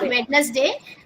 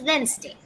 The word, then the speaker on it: Wednesday: It is not witness day but it's Wednesday.